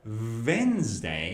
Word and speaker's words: Wednesday: If you say Wednesday, that is your top teeth touch your bottom lip, that is V, it's not W. So instead of Wednesday, you should say Wednesday.